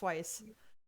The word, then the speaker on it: Weiss: pronouncing it correctly now it's not whis it's Weiss correct um oh my God